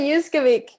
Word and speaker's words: Uskovic: Uskovic? Uskovic.